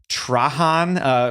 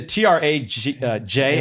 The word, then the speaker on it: Trajan: It's a Trajan. It might be Trajan. Trajan. Yeah. Sounds like the No silent J on that? Probably not a Trojan. silent J. Oh, man. Not like the Trojan horse.